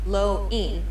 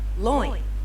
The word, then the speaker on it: loin: word loin for example it's not pronounced low e but loin light notice how the o transitions into the eye very quickly it's almost like you're trying to merge the two sounds loin notice the difference okay